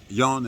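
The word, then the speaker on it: Joan: Yan is how he pronounces his name. He spells it j o a n, and he's not here right now.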